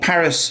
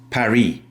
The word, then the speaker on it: Paris: It's called Paris in English and in French it's Perry.